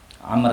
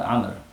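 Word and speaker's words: عمرو: Amr ya, bukan Omar, Amr.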